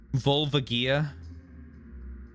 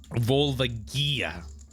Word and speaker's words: Volvagia: All right, now that everyone's stopped with the correcting, let's see how we pronounce this name. Volvagia.